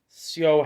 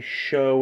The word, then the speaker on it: Syo: Whereas consistently, Syo has the advantage here. By the way, I'm pronouncing it Syo the whole time because it's Syo, but I think they say show in the dub.